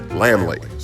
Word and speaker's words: Laemmle: When I did this episode, I wasn't quite sure on how to pronounce this guy's name, but apparently it's pronounced Laemmle.